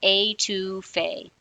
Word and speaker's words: Étouffée: had trouble pronouncing this it's a like the word or the letter to like the number and then FEI like Tina Fey that's all you got to remember a to Faye now we're going